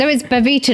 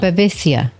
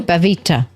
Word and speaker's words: Babitha: Babitha, not Babisia. No, Babitha. You say it like that.